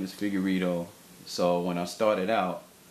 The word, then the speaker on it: Figueiredo: of my last name my last name is figuro so when I started out instead of using